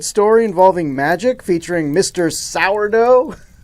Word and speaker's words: Sardo: involving magic featuring Mr sourdough that's sardo no Mister Accent on the dough when the hell did